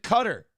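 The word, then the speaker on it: Qatar: no the country because the country they pronounce it cutter right and all those things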